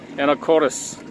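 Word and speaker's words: Anacortes: 그러니까 한국식으로 발음하면 아나코테스고요. 에나코레스 그렇게 얘기하죠.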